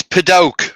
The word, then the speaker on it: padauk: what's the word please it's padauk ruby or at least that's the way i pronounce it without baruch right